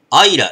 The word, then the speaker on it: Islay: あ、これがアイラって読むんですね。ISLAY が、アイラって読むらしい。